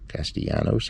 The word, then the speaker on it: Castellanos: george jones gaston ponce castellanos or castellanos castillanos i pronounce it argentine way it's uh ranchero or